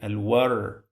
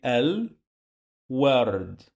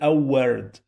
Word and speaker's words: الورد: Here I pronounce this L, this lam. Why? Because it sounds easy to say L word. It's better than to say a word. A word, it sounds really for a native strange.